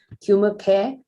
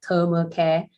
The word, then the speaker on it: Turmercare: meaning to this name we pronounce this product as tumor care rather than public will probably read it as a thermal care but we say this is a tumor care which is we developed